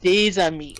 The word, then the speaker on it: des amis: It's des amis, and you'll see that often. That once you combine words in French, the pronunciation will change so that it flows nicely.